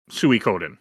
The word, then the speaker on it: Suikoden: What's What's your history with Suie Coden? I said it right. Yes. That's how I pronounce it.